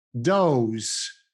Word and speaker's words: dose: Dose, dose. Nessun particolare problema per la pronuncia italiana. Mi raccomando, pronunciate bene e chiaramente la E a fine parola.